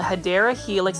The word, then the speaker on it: Hedera helix: This is a Hedera helix, or what you call a Hedera helix. That's the correct way to say it.